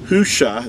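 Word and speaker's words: Hoshea: original name of joshua was hushah that's that's how his name was pronounced these are the letters that you would find for joshua's original name before it was changed by moses in numbers chapter 13 verse 16. there's the hay or the ha the ua or the the shin and the aying you would say it hush the only difference between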